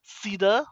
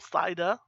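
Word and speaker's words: CIDR: learning objective is to understand cedar or cider whatever way you want to pronounce the classless inter-domain routing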